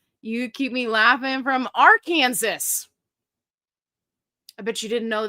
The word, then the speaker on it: Arkansas: You keep me laughing from Arkansas. I bet you didn't know that's how it's supposed to be pronounced.